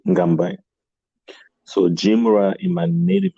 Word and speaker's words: Ngambai: Djimra Djimra actually means in my native language, which is Ngambai. Ngambai is spelled N apostrophe Gambay. Sometimes you put an E at the end. Again, N apostrophe Gambay sometimes, but either way, Ngambai.